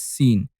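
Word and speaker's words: س: The 12th letter is Sin.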